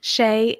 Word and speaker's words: Chaix: went by um is a little easier to pronounce Shay can be a bit of a mouthful um so I answered